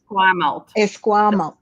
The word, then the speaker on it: Esquimalt: You're actually now setting up and establishing a brand new economic development portfolio for, is it Esquimalt? Is that how you say it? Esquimalt.